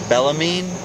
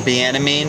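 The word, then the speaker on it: Bienaime: good I have Rose bellamine you say my name wrong how you spell the enemy the enemy yes it's gonna be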